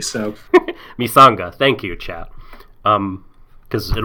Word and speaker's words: Misanga: I thought it was Mikanga, but like maybe. Oh, Mikanga is pronounced like an S.